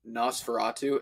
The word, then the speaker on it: Nosferatu: I also know that Robert is currently doing Nosferatu is that how you pronounce it yes yes it's based off of